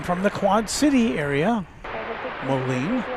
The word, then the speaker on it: Moline: Molen, you pronounced it correctly.